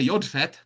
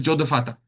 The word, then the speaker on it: Yodfat: It says here Yodfat. Other times we pronounce it as Jodafata.